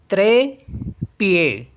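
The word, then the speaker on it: trépied: word है हमारे पास टी आर ई पी आई ई डी तो यहां पे ई है ई के ऊपर एक्सेंट मार्क है तो इसको भी ए पढ़ेंगे और ईडी लास्ट में तो उसको भी ए पढ़ेंगे तो इसे ऐसे पढ़ेंगे त्रे पीए त्रे पिए त्रे पीए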